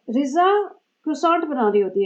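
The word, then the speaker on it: croissant: जहाँ पे रिजा क्रोसॉन्ट बना रही होती है, तो कल इसको बोल रही थी क्रोजो बनाएगी, क्रोजो।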